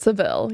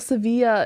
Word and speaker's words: Sevilla: Well, Sevilla, but Seville. Yeah. Which one is supposed to be right? Well, Sevilla is how Spaniards would say it.